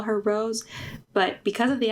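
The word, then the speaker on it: Rosé: So the next one is, do you say her name like Rose or is it Rose? Because sometimes I say Rose, sometimes I say Rose because of the accent. It should be Rose because of the accent.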